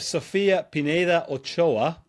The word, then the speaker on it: Sofia Pineda Ochoa: Right, I'm here with Sofia Pineda Ochoa.